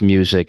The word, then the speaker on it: MUSQ: so, so I'm the founder and CEO of MUSQ, which is pronounced music, and we are the first pure play music ETF, giving investors a front row seat to the global music industry.